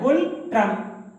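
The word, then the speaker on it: Ngultrum: गुल ट्रम। क्या यहाँ यन साइलेंट है? गुल ट्रम।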